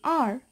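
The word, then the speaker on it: hour: in the word our H is silent it begins with a vowel sound oh so we use and before such words and we say an R let's take the second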